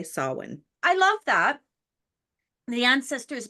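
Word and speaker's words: Samhain: his band that and taught us all how to say it sa listeners you want to say sawin I love that the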